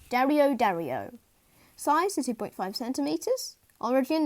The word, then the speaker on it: Dario dario: daniel zurich dario dario pronunciation dario dario size is 2.5 centimeters